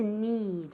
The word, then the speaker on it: need: Otra vez con esa I larga, ¿ok? To need.